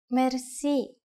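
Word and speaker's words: мерси: Merci. Merci. Merci is a loan word from French, but it is pronounced with the typical Bulgarian hard R. R.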